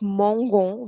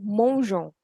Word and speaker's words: mangeons: Actually, why do we have this extra e in g e r ending verbs? So that the pronunciation of g remains "j". Instead of "mongo", we have "mangeons".